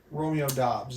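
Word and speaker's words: Romeo Doubs: Romeo Dobbs is how you say that.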